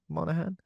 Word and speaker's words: Monaghan: Monaghan.